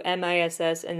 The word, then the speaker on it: Miss A: punny thing to do m i SS and then space letter a miss a like Missy and the Phantom though